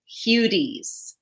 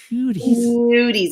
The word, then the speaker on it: Hudes: European pronunciation, which is Hudes. Hudes. You got to like roll it.